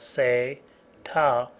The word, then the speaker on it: SATA: sat which is SATA sa ta pronounced as say ta is the faster and